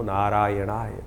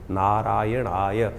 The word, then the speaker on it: नारायणाय: का प्रयास करें जब मंत्र का उच्चारण बिल्कुल सही होना चाहिए कई बार लोग मंत्र का जप करते करते थोड़ी सी गलती कर देते हैं नारायणाय नारायणाय नारायणा नारायणाय नारायण नाराय नहीं है नारायणाय ओम नमो नारायणाय इस